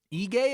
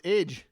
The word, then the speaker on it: Ige: Ige is how you say Dan's last name? Jesus, dude. I'm going to drink because I completely butchered his last name. I thought it was Ige.